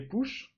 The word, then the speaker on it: push: Alors j'insiste un tout petit peu sur la prononciation pull et push, c'est le même ou que dans book par exemple pour dire un livre, ou dans sugar pour dire du sucre.